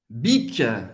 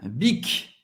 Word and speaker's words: Bic: Bic, bic, bic, hein? O do bic, ok? Bem conhecido. Bic, você vai pronunciar o C no final, que é também uma marca francesa.